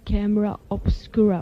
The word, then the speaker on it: Camera Obscura: I guess you're here because you just released a new record, Camera Obscura. Or did how did you pronounce it?